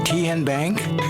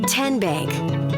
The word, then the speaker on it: TenBank: How do you say the name TN Bank? Nope. Tin Bank. Uh-uh. So, what is it? Tenbank. 10 as in Tennessee.